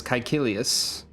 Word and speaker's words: Caecilius: or like two, that has a hard K sound is Caecilius. That would be an example of a name using the K sound.